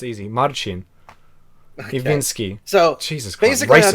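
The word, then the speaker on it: Marcin Iwiński: How do you pronounce that? Marcin Iwinski. Easy. What's wrong? Okay, good. Okay. Why Americans can't say his names? It's easy. Marcin Iwinski.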